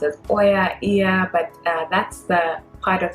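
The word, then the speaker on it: Oia: out so ear which some people are not pronounced as oya but that's the part of the island in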